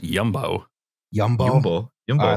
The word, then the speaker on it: Jumbo: of freak dutch supermarket there's also jumbo that's pronounced yumbo yum yum i like